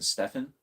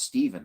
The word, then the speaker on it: Stephen: sick of people saying Stefan. Because if you notice, anybody with a PH spelled Steven, it's pronounced Stephen, not Stefan. Like you heard of Stephen King. His name's pronounced with the PH.